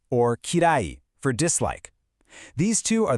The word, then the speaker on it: kirai: First, we have suki, pronounced suki, for like. And then we have kirai, or kirai, for dislike.